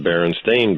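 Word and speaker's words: Berenstain: you Google it now everything is spelled s a i n and it's pronounced Baron stain Bears glit glitch glitch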